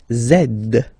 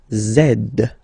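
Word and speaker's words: zède: X and the last one zed zed. Okay, so remember to pronounce this D at the end.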